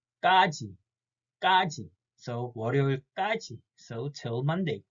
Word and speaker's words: 까지: double consonant 상기역, and we have to stress the first syllable 까, not just 가 or 가. We have to say 까지. 까지.